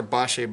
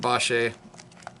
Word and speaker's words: Bache: And I pronounce it Bache. There's people that pronounce it Bach and all these other pronunciations, and who knows who's correct. I guess we have to ask the people. And even if your name, even if that's your last name, Bache or Bach, it could be pronounced differently.